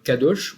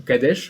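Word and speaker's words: קדוש: Alors qu'en hébreu, c'est le terme cadoche ou cadèche en fonction des prononciations qui, comme le veut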